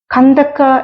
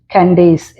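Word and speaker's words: Candace: തന്നെ ഇംഗ്ലീഷിൽ സ്പെൽ ചെയ്തിരിക്കുന്നു കണ്ടക്ക എന്ന ഒരു രാജ്ഞിയെ കുറിച്ച് അപ്പോസ്തല പ്രവർത്തികളിൽ നാം വായിക്കുന്നുണ്ട് എത്യോപ്യ രാജ്ഞി ഇംഗ്ലീഷിൽ അവരെക്കുറിച്ച് എഴുതിയിരിക്കുന്നത് അവരുടെ സ്പെൽ ചെയ്തിരിക്കുന്നത് സി എൻ ഡി എ സി കാൻഡേസ് എന്ന് വായിക്കും ഒന്നുകൂടെ ശ്രദ്ധിച്ച് ആ സ്പെല്ലിംഗ്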